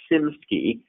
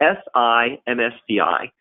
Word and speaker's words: SIMSCI: I mentioned very quickly the nickname was SIMSCI, so SIMSCI.